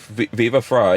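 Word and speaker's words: Viva Frei: viva fry fever frog fry yeah fry like french fry viva fry yeah that was a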